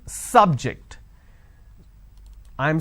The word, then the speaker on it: subject: syllable so I say biology is an interesting subject I'm I'm stressing on the first syllable okay now I'm using another example please don't subject the students too many tests so here my stress has moved to the second syllable for example when I